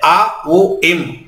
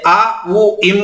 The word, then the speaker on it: ಓಂ: ಓಂಕಾರದಲ್ಲಿ 3 ಅಕ್ಷರಗಳಿವೆ, ಆ ಉ ಇಂ, ಆ ಉ ಇಂ. ನೀವು ಉಚ್ಚಾರಣೆ ಮಾಡಬೇಕಾದ್ರೆ ಆ ಉ ಇಂ ಅಂತ ಉಚ್ಚಾರಣೆ ಮಾಡೋಂಗಿಲ್ಲ, ಆ ಅಂತಲೇ ಉಚ್ಚಾರಣೆ ಮಾಡಬೇಕು. ಶುರುವಿಂದ ಕೊನೆಯ ತನಕ ನೀವು ಆ ಅಂತಲೇ ಉಚ್ಚಾರಣೆ ಮಾಡಬೇಕು.